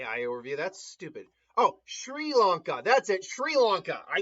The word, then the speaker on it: Sri Lanka: It is S as in say, followed by RI as in run. What? And then go away, AI overview. That's stupid. Oh, Sri Lanka.